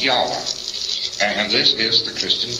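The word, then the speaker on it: Yahweh: is to be pronounced but more agreed upon pronunciation one scholar so they talk about it is yahwa and this is the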